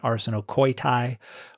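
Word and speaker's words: ἀρσενοκοῖται: And then the next word is arsenokite, or according to the Erasmian pronunciation, arsenokoitai, which would be men betters.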